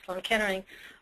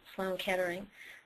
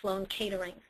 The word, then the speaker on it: Sloan Kettering: it, and that was Sloan Kettering. But because of my father's accent, he pronounced it like Sloan Catering.